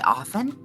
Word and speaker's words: often: is a weird word cuz I don't usually pronounce the T you just say often yeah I I always